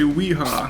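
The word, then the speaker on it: Wiha: I think it's German, so it's probably pronounced viha, but we're American, so we're going to say weha.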